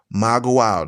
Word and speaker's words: Magua: Maguao, that's spelled M-A-G-U-A, Maguao, with the stress on the last syllable, which means kingdom of the plain.